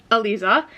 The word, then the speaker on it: Eliza: Like, even, I think her name is pronounced Eliza after I listened to the audiobook. I did look up pronunciations before I did the first clip, and it gave me a couple different pronunciations that could work for it, but the narrator pronounced it Eliza, so Eliza.